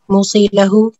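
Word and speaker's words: موصیٰ لہ: موسی، موسی لہو، موسی بھی اور صیغہ۔ ہاں ٹھیک ہے، اس کا صحیح تلفظ جو ہے موسیٰ لہو، موسیٰ بھی ہے۔ موسی وصیت کرنے والا، ٹھیک ہے۔ موسیٰ لہو کون ہے؟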